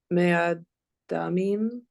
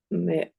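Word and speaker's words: מְאָדָּמִים: Ve'orot elim me'adamim ve'orot techashayim ve'atze shittim. Mm-hmm. I only have one little pronunciation issue. To bring up. Do you see it? Yes. It's a closed and unstressed syllable right there. Me'odamim.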